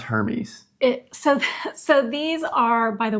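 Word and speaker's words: Hermès: And it's pronounced Hermes.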